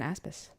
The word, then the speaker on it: Aspes: I was just realizing the perfect mental note for how to say it properly is as if you're saying Aspen. Oh my God, just where you're from. Swap the N for an S.